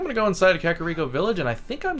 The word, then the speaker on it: Kakariko: Kakariko Village. I used to not know how to pronounce that, FYI. I think I pronounced it Kakario or something like that.